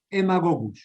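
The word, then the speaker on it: Haemagogus: mosquito del género hemago se escribe con h y aema gogus se escribe pero se pronuncia Emma este también el más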